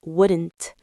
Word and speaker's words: wouldn't: Yes, and wouldn't is pronounced wouldn't. The L is very soft or silent. Listen. I wouldn't do that.